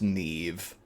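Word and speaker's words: Niamh: Um and he says this is uh Neve. And he gestures to the red-headed lady. Nev is an Irish name and it's spelled like this and pronounced Neve.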